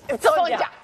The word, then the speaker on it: Sonya: Y dije, Sonja.